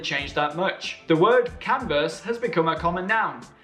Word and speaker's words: Converse: The word Converse has become a common noun. Next time you put on your sneakers, pronounce their name right.